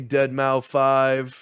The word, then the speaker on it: Deadmau5: It's me, Deadmau5. Yes, that is the actual pronunciation of it. So you know, get it right.